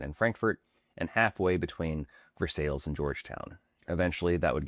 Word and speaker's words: Versailles: And while the French palace is pronounced Versailles, local residents quickly adapted their own pronunciation, Versailles.